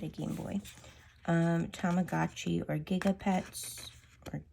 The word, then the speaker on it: Gigapets: Tamagotchi or Gigapets, or Gigipets? No, it's Gigapets.